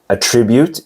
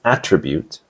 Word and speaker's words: attribute: The noun is attribute and the verb is attribute. The stress is on the first syllable for the noun attribute and on the second syllable for the verb attribute.